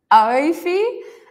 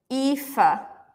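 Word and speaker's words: Aoife: Oifi, and someone on Facebook, Winnie, says off. It's pronounced Efa.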